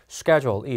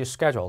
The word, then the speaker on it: schedule: 동의어는 set up, arrange, schedule이 있습니다. set up, arrange, schedule 시작. set up, arrange, schedule입니다. 스케줄은 미국 발음일 때 schedule, 영국 발음일 때 schedule로 발음이 됩니다.